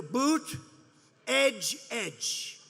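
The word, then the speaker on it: Buttigieg: touch and they said here's what you do boot edge inch say edge like the edge of a building edge edge Buddha judge Alfred e Newman you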